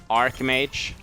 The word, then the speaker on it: Archmage: We need to, or Archmage, is how you would pronounce it.